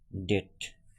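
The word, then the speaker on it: debt: আবার তাহলে টি এর আগে যদি বি থাকে যেসব শব্দে টি এর আগে বি আছে সেসব শব্দে কিন্তু বি এর উচ্চারণ হবে না। যেমন সকম কিছু শব্দ আমি তোমাদের দেখাচ্ছি। যেমন এখানে আছে দেখো ডেট ডাউট ঠিক আছে এখানে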